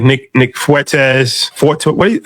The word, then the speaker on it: Fuentes: Um, and there's the American first movement with like Nick Nick Fuetz for what? How do you say that? Fuentes.